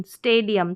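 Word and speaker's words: stadium: स्टेडियम क्या है स्टेडियम तो यह ए लॉन्ग ए के रूप में प्रोनाउंस हो रहा है पहले स्टे और फिर डियम स्टेडियम तो ब्रेक किया इस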